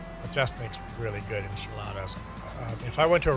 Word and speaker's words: enchiladas: It's pronounced Gnadenthal, as in Grace Valley in German. What do you think enchiladas?